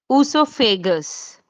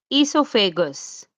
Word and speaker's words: esophagus: Usophagus. Some people they pronounce like esophagus. So usophagus, esophagus both are correct.